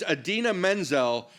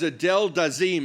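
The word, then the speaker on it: Idina Menzel: He didn't just mispronounce it. He invented a whole new human being somewhere.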